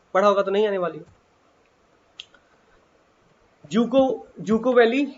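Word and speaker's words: Dzukou: में आग लग गई तो डी जूको वैली लोग पढ़ते हैं, डी साइलेंट रहता है तो इसे कहते हैं जूको वैली।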